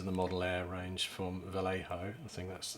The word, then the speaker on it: Vallejo: one these are the model air range from Vallejo the thing that's how you pronounce it and this is the a K